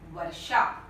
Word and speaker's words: वर्षा: आप देख रहे हैं मूर्धन्य श है, यहाँ पे दंत स लिख दिया है मैंने, और व की जगह पर ब लिखा था, तो ये गलत हो गया। तो होना चाहिए शुद्ध उच्चारण है वर्षा।